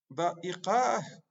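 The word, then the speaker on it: دقيقة: Et lorsqu'on s'arrête sur ce T marbouta, on va dire da'iqah. Da'iqah. On va le prononcer à l'arrêt.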